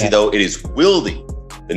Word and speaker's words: Willdy: It is Willdy. The name is it's Willdy. I have to correct it. Yes, I have to pronounce that properly. I feel terrible because I've been saying it Wildly forever.